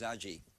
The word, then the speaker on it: Agee: great review after James Agee of The Nation. Agee, how do you, Agee? A-G-E-E, I never knew how to pronounce it. Hard G or soft G?